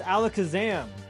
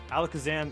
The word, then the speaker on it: Alakazam: It's Alakazam. I call him Alakazam. No, it's Alakazam. Why? That's how you pronounce his name.